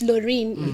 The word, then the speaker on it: Loreen: So I used to, and it's Lorraine. It's spelled LOREEN. Yes.